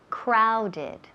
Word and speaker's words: crowded: Crowded. Crowded. Ese O suena como ow. Crowded.